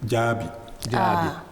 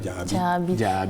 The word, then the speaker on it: Djabi: Sinon, on aurait pu dire, pour ce nom, on aurait pu dire Djabi. Mais là, voilà, l'accent tonique tombe à la dernière syllabe, ça fait Djabi.